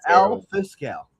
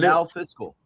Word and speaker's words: El Fiscal: Oh my god, this is I said el fiscal as al fiscal. I don't know how to say people's names. Well, well, in Spanish it's El Fiscal.